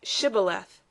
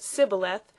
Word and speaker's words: Shibboleth: If he said no, then they said to him, "Now say Shibboleth." And he said Sibboleth, for he couldn't manage to pronounce it right.